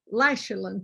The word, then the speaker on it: Lysulin: i'm saying that right i've listened to people interview you and say it lysallen but i hear you say lachlan so i'm trying to say it right and uh so